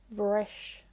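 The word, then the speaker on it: bhris: When followed by a consonant or a narrow or slender vowel, which is I or E, it's pronounced like a V. For example, brish, the verb for break. When you put a H after the B, SÉIMHÍÚ, it changes to vrish.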